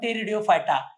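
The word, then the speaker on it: Pteridophyta: ला टेफा ब ट P silent है पीने शुरुआत है प टेरियो फाइटा पी साइलेंट असतो टेडि अर्थ फिदर म्हणजे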